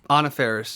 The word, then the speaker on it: Anna Faris: Anna Faris, yes, Anna Faris.